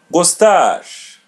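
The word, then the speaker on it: gostar: Gustage. Gustage. Repeat part after part. Go. Gosh. Gustage. Gustage. The letter R is pronounced as English R.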